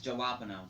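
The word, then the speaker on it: jalapeño: But Plus it wasn't a hot jalapeno, but You're pronouncing no. it wrong. It's jalapeno.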